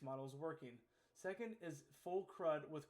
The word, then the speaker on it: CRUD: Charts can visualize spending by category, but the MVP is focused on correct crude and incorrect calculations. I believe that's pronounced CRUD.